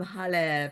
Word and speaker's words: Halle: I am Halle pronounced like Hallelujah.